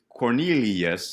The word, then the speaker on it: Cornelius: my brothers and sisters, Cornelius, that's 4 syllables, right?